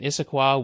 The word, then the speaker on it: Issaquah: This is Costco IT, and it's in Issaquah, Washington, which is outside of Seattle. And now you know how to pronounce that name, by the way.